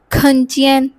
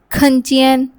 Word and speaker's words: 看见: एकशंस habits और states alright the next word खंचियन खंचियन means to सी और to catch site of